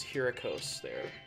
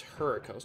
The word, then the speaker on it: Hurricos: going to do is here a coaster yes I know I'm pronouncing it wrong it's her cause next year this I